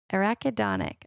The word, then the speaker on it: arachidonic: Arachidonic. I think it's arachidonic acid.